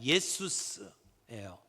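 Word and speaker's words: Ἰησοῦς: 예수라고 하는 이름은 이게 헬라어 발음으로 그대로 발음을 하면 예수스예요.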